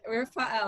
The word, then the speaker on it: Rafael: Spitting up on Gosh, Adine said Rafael. It rhymes with Yisrael, like Gideon and his middle name.